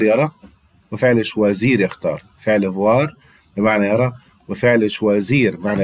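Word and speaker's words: vois: هنا بص يا ابني فوا الاس ما انطقهاش والحرفين او اي هنا هم انطقهم وا.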